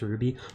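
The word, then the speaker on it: RWBY: Ray white black and yellow is just pronounced phonetically as Ruby oh okay I only watched like the first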